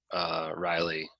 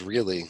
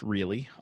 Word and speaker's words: Rielly: I always call her Anna Riley, but Yeah. it's actually pronounced really.